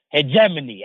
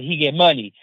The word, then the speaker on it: hegemony: the context of cultural hegemony. We just learned a new word because before I used to pronounce it as he get money, but it's not too different, right?